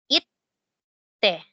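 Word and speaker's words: いって: ay nagiging it so magkahiwalay yung pagkaka pronounce ng dalawang letter T it te it te sana Malinaw po ito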